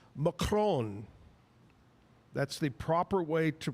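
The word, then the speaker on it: macaron: Uh Kevin Kevin uh he said that actually it's pronounced macron. That's the proper way to pronounce macaroon.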